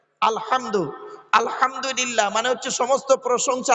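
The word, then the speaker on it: الحمد: আলহামদুলিল্লাহি রাব্বিল আলামিন আলহামদু গলার ভেতর থেকে হে এটা উচ্চারণ করবেন আলহামদু আলহামদুলিল্লাহ মানে হচ্ছে সমস্ত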